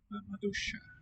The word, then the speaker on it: maduixa: La maduixa. So maybe the I and the X together are best regarded as a single sound. Sh.